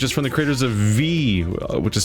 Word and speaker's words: VVVVVV: from the creators of V which is spelled that vvvvvv but I've heard it's pronounced just V like you just say that and also super hexagon